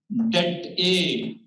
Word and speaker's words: det A: second order matrix, then det A, you should pronounce this one as det A is equals to AD minus BC, right?